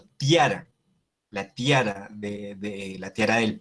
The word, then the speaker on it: tiara: También al inicio de palabra, entonces no se lee ciara, sino tiara, la tiara la tiara del Papa.